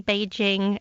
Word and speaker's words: Beijing: should it be pronounce our recommendation is actually Beijing that's based on the Mandarin Chinese in fact I've asked one of our colleagues he's actually from Beijing to record the Mandarin Chinese pronunciation Beijing Beijing and this